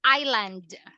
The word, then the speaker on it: island: ah Claire this is Island yeah this is silent s meaning you don't pronounce the you don't say Iceland